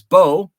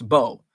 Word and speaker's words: Beau: a youth and uh my name is bo spelled b-e-a-u uh many people don't know that spelling like and they're like uh what what's your name it's bo oh i didn't know